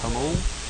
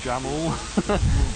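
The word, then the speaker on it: Jamul: say this wrong, but I think it's pronounced Hamul. Yeah, Hul. Yeah, he bought a place out there. You're a British guy who can speak uh Spanish. Good for you. I would have called it Jamal, but uh someone told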